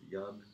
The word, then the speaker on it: Jan: And the first name is Jan. Yeah, okay. It's actually Jan. Like you're yawning, but yeah.